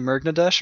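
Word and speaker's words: Murgnadesh: real name people are wondering if it's actually mergnadesh or if he just wanted a name that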